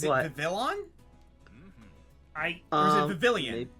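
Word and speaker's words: Vivillon: villon mhm I Vilan honestly I changed how I pronounced it during the course of this let's play because I heard woo say vivon and I like that wait a second is it is it actually like vivon or like vivin or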